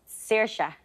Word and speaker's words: Saoirse: Think Irish. Stick in vowels where you don't think there should be vowels.